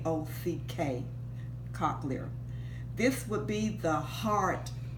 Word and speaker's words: cochlear: called the cochlear co h le are the pronounced cochlear K Ock cochlear this would be the heart if we want